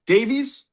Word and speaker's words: Davies: And your last name is pronounced Davies.